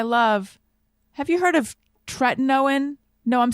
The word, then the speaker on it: tretinoin: No one let me know I was saying that wrong. And then I was like, oh, it's tretinoin. But now apparently it's tretinoin.